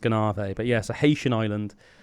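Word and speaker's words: Gonâve: I believe it's called Ganave, pronounced Ganave.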